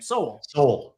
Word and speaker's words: Sowell: I never know how to pronounce his name. Sowell.